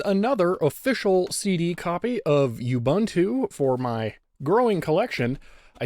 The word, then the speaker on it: Ubuntu: you for sending that small correction Ubuntu I know it's called Ubuntu I've been calling it Ubuntu for so long it's a very very